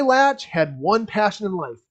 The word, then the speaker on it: Latsch: You will be meeting Ambassador Latch. Latch is an 8-year-old male bald eagle from Winona, Minnesota, and his name is spelled Latsch.